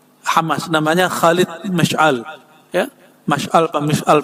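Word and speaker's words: مشعل: Ya, Mash'al Pak Mash'al bacanya itu ya.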